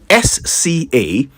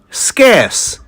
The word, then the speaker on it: scarce: SCARCE. Did you say scarce? I know, many people say that. It's actually scarce.